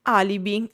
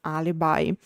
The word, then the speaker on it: alibi: who don't know is a Latin word and that's why also English took it as a lone word and of course with the English pronunciation alibi. Uh now what is an alibi or alibi?